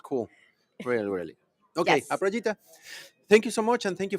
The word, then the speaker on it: Aprajita: Aprajita, not Aprajita.